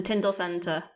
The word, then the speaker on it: Tyndall Centre: The white paper, that was produced by is it the Tyndall Centre? Am I pronouncing that correctly? Yeah, the Tyndall Centre.